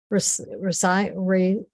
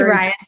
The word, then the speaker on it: Rice: I believe uh doctor resign I'm sorry I'm mispronouncing your name hi it's rice um I'm also not